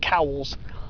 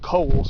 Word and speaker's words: Cowles: A lot of people pronounce it Cowles. I used to think it was too. But it's actually supposed to be pronounced Coles, but, you know, everybody has a different pronunciation of it.